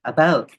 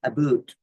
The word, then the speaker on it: about: French not American and I pronounce it about not abot uh but I speak